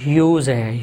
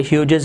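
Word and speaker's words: Hughes: टेड ह्यूज, इसकी pronunciation जो है ना वो ह्यूज है, ह्यूज। यानी इसमें जो आपने जो जी की साउंड है वो आपने प्रोनाउंस नहीं करनी, टेड ह्यूजेस नहीं कहना, टेड ह्यूज।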